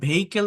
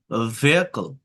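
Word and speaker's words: vehicle: আমরা অনেকে ভেহিকেল বলি না এটা এটা হচ্ছে ভকল ভকল বুঝছেন ভার উচ্চারণ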